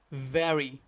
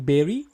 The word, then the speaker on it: very: Whenever we are saying the correct one, it will actually, our lower lip will go after the upper teeth and we'll try to make a noise and vibration in our throat like V.